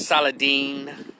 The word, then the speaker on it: Saladin: this black dude by the name of saladin or saladin he called his aladdin but it's pronounced saladin and i'm watching on